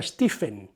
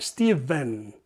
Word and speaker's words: Stephen: Por cierto, aunque se escribe Stephen, se escribe con PH en inglés, no se pronuncia Stephen, se pronuncia Stephen.